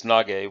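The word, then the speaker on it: 投げ: means hand and then the third character is nage which means throw now the first two characters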